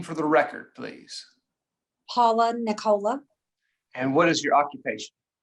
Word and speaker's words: Nicola: for me okay um dr nicola is that how you say it yes okay dr nicola if